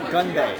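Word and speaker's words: 건배: So it's gunbae. Gunbae.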